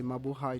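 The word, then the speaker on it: Mabuhay: of uh Filipinos listening today and I say Mau High to them uh I think you you speak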